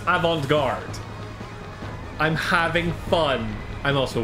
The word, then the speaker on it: avant-garde: I know it's pronounced avant-garde.